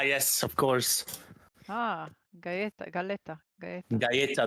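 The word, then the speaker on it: galleta: Galetta. Gaya. Getta. Double L is pronounced as a J.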